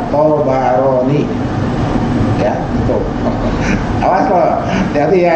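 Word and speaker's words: Ṭabarānī: Profesor Agil Munawar, jadi saya bacanya Tabarani, banyak sukun, itu dikoreksi. Yang benar Tabarani.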